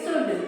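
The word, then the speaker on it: should: इसी तरह इसको क्या पढ़ोगे? SHUD, शुड। क्या पढ़ोगे? क्योंकि इनके बगल में कौन बैठा है?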